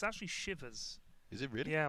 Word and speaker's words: Shiva: is it really yeah my friend is from India he said that it's not shivas it's Shiva I could be wrong but he said it's Shiva people say Shiva because of Shiva I think yeah um